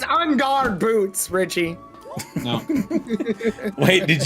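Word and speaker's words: En Garde: He said in guard. It's on guard boots. Actually, how good are these books? It's like when you're fighting somebody with a rapier sword, you say on guard.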